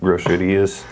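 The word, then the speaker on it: groserías: Yeah, it sounds like the word grocery, but grocerías.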